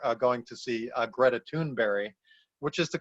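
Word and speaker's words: Greta Thunberg: had said earlier uh going to see uh greta tuneberry which is the correct pronunciation of her name in swedish by the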